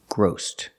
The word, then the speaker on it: grossed: over two million dollars gross in the past grossed with a t sound his company grossed over